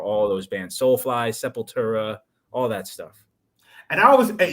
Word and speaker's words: Sepultura: who got me into Sepultura was Brazilian himself. Yeah, of course. So I pronounce it that way. the real way, yeah, Sepultura.